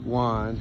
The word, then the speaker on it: Juan: like with a huh like an h kind of sound in spanish in this case it's